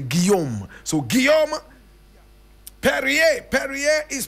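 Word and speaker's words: Guillaume: photograph of Gom perier Gom is spelled g u i w l a u m e that's Gom that's French for William right William William in in French we don't say William we say Gom so Gom perer perer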